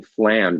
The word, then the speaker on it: flam: on the drum flan now flam is a one syllable word what most students are going to do at the beginning is played as a two syllable lamb lamb it's one